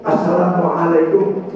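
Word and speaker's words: Assalamualaikum: Begini cara bacaannya mesti nyambung. Asalamualaikum. Asalamualaikum. Enggak boleh begini. Asalamualaikum Alaikum. Asalamualaikum warahmatullah. Nyambung.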